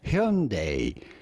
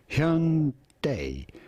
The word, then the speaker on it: Hyundai: I'm going to judge a pronunciation that is as close as you can sort of get it from the original genuine Korean pronunciation of the brand. And that would be Hyundai.